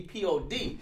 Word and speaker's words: P.O.D.: The pod? Is that what you said? Lovely pod? Am I saying it right? Oh, P.O.D. P.O.D. That's why I had to double check.